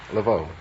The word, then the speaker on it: Levov: Is that the way you pronounce it, Levov? Levov.